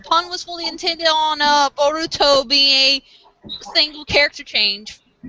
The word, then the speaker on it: Boruto: The Japanese pronunciation of Bolt is... Yes, Boruto.